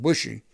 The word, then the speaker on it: Boucher: the way it's pronounced i pronounce it bushy but it's spelled b-o-u-c-h-e-r but um i never